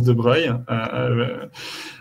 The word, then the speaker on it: Dubreuil: avec grand plaisir de louis dubreuil parce que ça se prononce de breuil bon le prix nobel